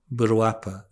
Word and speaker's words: Virupa: But in Sakya, our most commonly practiced Hevajra line is that comes from the Siddha Virupa, or as Tibetans would pronounce his name, Burwapa, a 9th century Indian yogin.